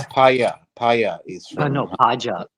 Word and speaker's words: Paja: Paya is from.